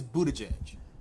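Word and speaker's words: Buttigieg: Pete Budaj edge being because that is how you say Budaj edge yes it was booty so he said he has watched him pronounce it he says Buddha judge okay so anyway he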